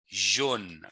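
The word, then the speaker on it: jaune: repeat after me so the word yellow is Jean remember in the chief as there are no J sounds there but there are z h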